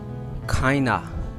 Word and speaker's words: kind of: Kinda. This word in the real pronunciation is kinda. Kinda. This is kinda machine. This is kinda machine. He's kinda busy. What kind of man you are?